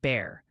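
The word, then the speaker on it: Bexar: Beckar County is pronounced bare. Just forget the X.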